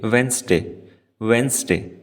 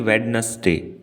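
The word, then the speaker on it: Wednesday: से नोटिस किया है तो यहां दी की साउंड नहीं है पहले दी की तो इसका मतलब होता है की हम इसको कहेंगे वीनस दे ना की वेडनेसडे ये गलतियां हमसे बहुत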